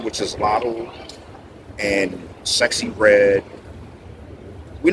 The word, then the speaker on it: Latto: that out of all of them I'm saying lot was number two that's how you say her